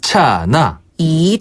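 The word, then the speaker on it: 刹那: 사이라는 의미도 있는데요네이 차나이 차나이 차나 이것도 내대 같은 표현이에요 어이 차나네 한국어 찰라를 중국식으로 발음하면 차나 차나네 찰 깜짝할 사이에 그렇죠이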